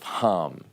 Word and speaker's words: Ham: upon the tense of ham tense of hum is the way it's actually pronounced but the idea is